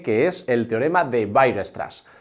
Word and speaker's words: Weierstrass: es el teorema de Weierstrass. Se escribe de una forma un poco extraña para nuestra lengua, pero se pronuncia más o menos así, Weierstrass.